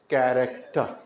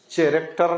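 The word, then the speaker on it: character: कस क्या पढ़ेंगे कस इसमें पढ़ेंगे कैरेक्टर चरेक्टर नहीं कैरेक्टर हा हा इसको पढ़ेंगे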